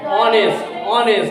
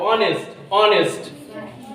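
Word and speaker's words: honest: তার মানে এইচ A silent letter, মানে এইচটা এখানে সাইলেন্ট, উচ্চ।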